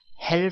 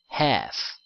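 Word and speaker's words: half: l 발음 l 발음 l 발음은 발음이 나지 않습니다 그래서 헬 수가 아니라 해 라고 발음을 합니다 자 그러면 3시 30분을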